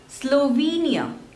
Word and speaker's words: Slovenia: second one Slovakia Slovakia Slovenia Slovenia so again there are three syllables and the stress is on the second one slow V near Slovenia Slovenia Slovenia Slovenia next is Sweden Sweden